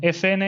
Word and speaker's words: Efene: it's how you pronounce in Spanish MSN and if na is how you pronounce in Spanish FN the two letters right